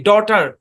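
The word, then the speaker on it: daughter: একটা উদাহরণ যেমন দেখেন ডি এ ইউ জি এইচ টি ই আর এই শব্দের উচ্চারণ কি এখানে জি এইচ এর আগে ভাওয়েল আছে জি এই সাইলেন্ট জি এইচ উচ্চারণ হবে না শব্দের উচ্চারণ কি ডটার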